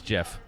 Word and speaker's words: GIF: said it both ways which way is it Mark it's GIF it's Jeff oh my look at